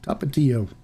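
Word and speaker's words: Tapatío: pronunciation i enjoyed it tapatio is uh easy easy pronunciation top it to you the only only difference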